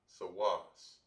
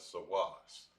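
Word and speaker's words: סוס: in the hebrew and horse in the hebrew would be pronounced as sawas all right i'm gonna write it out right here as well it'll be pronounced as sawas sawas in the april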